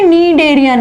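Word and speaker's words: Schneiderian: बेटा इसको लिखते श्नीडेरियन और बोलते नीडेरियन है, श साइलेंट रहता है, श्नीडेरियन लिखते हैं और निडेरियन बोलते हैं, श साइलेंट रहता है।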